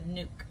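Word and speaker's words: nuc: decided to go with a nuke or nuk depending on how you want to pronounce it I ordered a nuke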